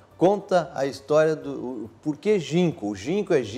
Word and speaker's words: Ginkgo: seu resort primeiro conta a história do porquê ginco jim kg e nk jean seria ginco go mas hoje a gente não pronuncia então ginco é porque ginco é a